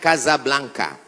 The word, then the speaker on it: Casablanca: Hasan dua di Kota Kasablanka ibukota Maroko tempat saya kuliah nama negaranya Maroko ibukotanya tulisannya Casablanca cara bacanya Kasablanka Kaza artinya rumah Blanca